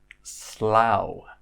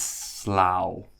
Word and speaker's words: Slough: first one is pronounced Slough so it's not pronounced like this one this is Slough and this is Slough with the owl sound and Slough is a place about